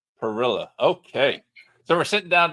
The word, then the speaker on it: Perilla: bio that I never asked Alex how to pronounce his last name. No worries, no worries. Alex Pirila. Perilla.